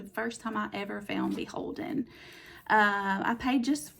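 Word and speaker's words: BHLDN: It's B H L D N, which they pronounce Beholden. They just take all the vowels out.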